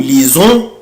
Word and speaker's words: lisons: lit, on lit, nous lisons, vous lisez, ils lisent, elles lisent. مش محتاجة بقى انت عارف انا ليه بنطق هنا الاس زد. برافو عشان هي جاية بين دوبل فويل.